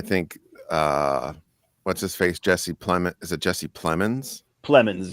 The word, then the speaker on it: Plemons: Jesse Plemons. Is it Jesse Plemons? Plemons, yeah, like I want to say Clemens. Yeah, but it's Plemons.